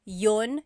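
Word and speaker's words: iyon: You might hear me saying yun yun as if there's no I and that's commonly how it's pronounced. You might hear people say but usually the letter I sound is dropped.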